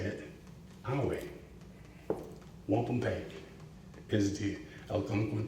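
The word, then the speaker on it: wampumpeag: The word wampum, the Algonquin pronunciation is 3 syllables, not 2. So why 2? Because the Europeans didn't want to say it our way. Wampum peg is the Algonquin pronunciation. Wampum peg.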